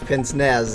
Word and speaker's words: pince-nez: think is so like there's two pronunciations of pince-nez pince-nez is the english pronunciation but most anybody fancy enough home where yeah anybody fancy enough to wear pince-nez actually says like Paul or whatever the French pronunciation wait a minute eight